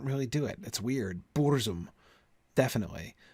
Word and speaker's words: burzum: a long u bours it's really hard not to stress that boors boor is just you know you can't swallow bores right you're spitting that out right um yeah burst is a syllable that's going out not in so i gotta